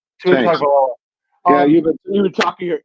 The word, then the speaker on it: Tagovailoa: How do you pronounce his name? Tagovailoa. Tagovailoa.